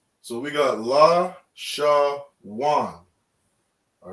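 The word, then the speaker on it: לשון: this is a sham all right so we pronounce this word la shawan and these connectors you see under the characters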